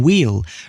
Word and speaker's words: wheel: Old English wheol, meaning wheel, reveals why the modern English word is spelled as it is with a silent H.